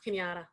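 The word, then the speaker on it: Cañada: It's pronounced Kenyatta.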